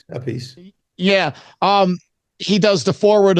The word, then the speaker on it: Appice: So you do the first book, and Carmine Appice, depending what brother you're talking to on the pronunciation. A piece.